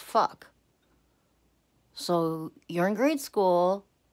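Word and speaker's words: phoque: Fuck is actually a seal in French, spelled P-H, not F, but pronounced fuck.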